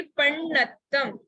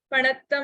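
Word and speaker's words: पण्णत्तं: हाँ, पहली केवली पण्णत्तम, पणत्तम नहीं, पण्णत्तम, एक मिस्टेक।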